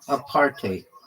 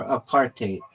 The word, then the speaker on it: apartheid: It's pronounced a partate or a partate with a bit of a Dutch style hide at the end like height with a D. It's made from apart and hide.